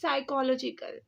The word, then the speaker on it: psychological: The word is psychological. Okay, P is silent here.